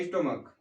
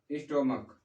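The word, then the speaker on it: stomach: और दूसरा हमने लिखा था स्टोमक, स्टोमक। दो दो हमने ये एग्जांपल कल देखे थे सी एच वाले जिसका प्रोनाउंसिएशन क्या होता है और उसका प्लूरल बदलने के लिए हमने एस का यूज किया था।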